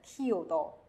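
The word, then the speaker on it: chiodo: 要拼读 kio，这个词念 kiodo kiodo。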